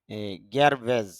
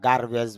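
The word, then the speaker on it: garbage: এটা আমরা এভাবে উচ্চারণ করি। গারভেজ বা গারবেজ বলি।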